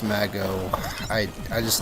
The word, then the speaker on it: Mago: it run Mago run and yes it is pronounced Mago I I just like Mejo majo is fun